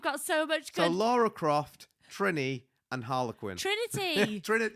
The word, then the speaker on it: Lara Croft: Apparently I kept on saying Laura Croft. You literally, all of the different characters that she dressed up as today, you literally pronounced every single one wrong.